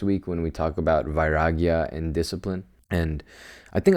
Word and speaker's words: Vairagya: It's Vairagya. And again, not Viagra, Vairagya, roughly translating to detachment, a Sanskrit word.